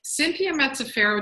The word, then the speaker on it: Cynthia Mazzaferro: So Cynthia Mazzaferro, did I pronounce that right?